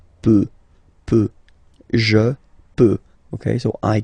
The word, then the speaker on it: peut: peut. Then il, elle, peut. So you will put T at the end, you don't pronounce it.